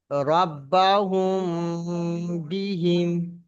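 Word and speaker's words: ربهم بهم: মিম সাকিনের পরে বা আসার কারণে গুণনা হবে। তাহলে ওটা কেমন পড়তে হবে? রব্বাহুম বিহিম।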